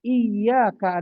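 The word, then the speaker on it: إِيَّاكَ: Perhatikan iyaka ada tasdidnya.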